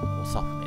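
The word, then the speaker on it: 長船: たんで、多分おさふねって読むんじゃないかなと思ってたら、やっぱりそうでしたね、おさ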